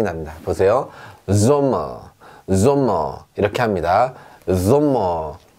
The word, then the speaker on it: Sommer: S라고 말을 하지만 실제로 발음은 S가 아니라 지읒 발음이 납니다. 보세요. Sommer 이렇게 합니다.